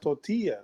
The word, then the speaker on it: tortilla: I was about to hop in and say it's actually pronounced tortilla, but then I'm like she knows.